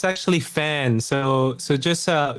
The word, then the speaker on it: Phan: right um it's actually fan so so just uh just like a you know a fan that's that's how I